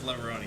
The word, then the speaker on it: Leverone: It is Leverone. You actually do pronounce the E, strangely enough.